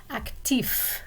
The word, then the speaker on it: actif: Actif, okay, the F is clearly pronounced, and Chantal, clearly pronounced.